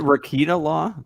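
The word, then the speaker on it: Rekieta Law: I can't pronounce that. Is it Rakita Law?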